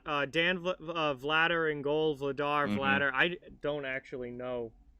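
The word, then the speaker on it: Vladař: kemsky was easy um pronunciation vladder it looks like vladder so it's stan vladder yes stan vladder in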